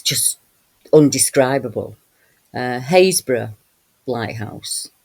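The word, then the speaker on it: Happisburgh: Uh, Hazes Lighthouse, spelled Happiesburg, but pronounced Hazesborough, um, has what's known as the Pump Hill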